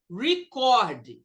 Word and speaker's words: record: Então, o verbo, quando é verbo, é record. Record. E quando a palavra substantivo é nome de alguma coisa, ele bateu um recorde. Um é a record. Aqui, a sílaba mais forte, um record of hits.